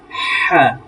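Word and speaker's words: ح: তাকে বলবো আমরা হা, তাকে বলবো আমরা হা, হলকের মাঝখান থেকে হা।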